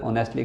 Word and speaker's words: honestly: H की आवाज़ जो है ओ की आएगी, H साइलेंट रहेगा।